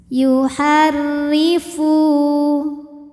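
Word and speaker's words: يُحَرِّفُ: boleh juga terus yuharri Dho ini dibunyikan secara tarqik karena berbaris kasrah jadi bacanya tipis yuharrifu Fu hukumnya Mad Thobi'i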